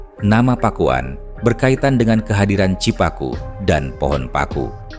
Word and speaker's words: Pakuan: Dalam lidah orang Sunda, kata itu akan diucapkan Pakuan.